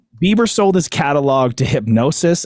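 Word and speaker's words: Hipgnosis: So Bieber sold his catalog to Hypnosis, I think it's pronounced. There's a random G in there that I can't really sound out, but the music rights investment company announced this week.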